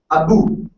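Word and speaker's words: أبو: Joining both the lips. Ba, ba, ba, ba. If anyone not joining the lips, you cannot pronounce. Like Abu.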